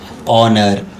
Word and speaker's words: honor: I say whenever H comes after O, will not be pronounced H. Honor, hour.